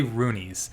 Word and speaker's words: Runi: seems like I say Rooney's I think Rooney is the portal they don't ever say Rooney this Rooney is plural I've got to get